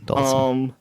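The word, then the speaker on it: Dhalsim: Dalsum. How do you pronounce that? Dalsum? And Vega. Dalsum. Okay. Yeah. All right. So I was right. That's the way I always heard it. Dalsum.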